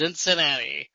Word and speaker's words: Zinzinnati: It rhymes with Cincinnati. You are correct, sir. Mm-hmm. Oktoberfest Zinzinnati, which is why I